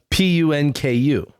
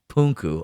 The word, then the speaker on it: Punku: Punku. Punku. Okay. Puma and then punk you.